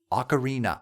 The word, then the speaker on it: ocarina: It's similar to Ocarina. Ocarina! Ocarina. The music of the ocarina leads. Leads to ellipses. Wait, the music of the ocarina. Ocarina. Ocarina. Exactly. 4 syllables. 1 word. 4 syllables.